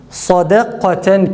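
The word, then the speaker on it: صَدَقَةً: Mesela sadakaten kelimesinde sad kalın, dal ince, kaf kalın, ta ince. Öyleyse sadda a, dalda kafta yine a, ta'da ise e sesi çıkararak okuyacağız.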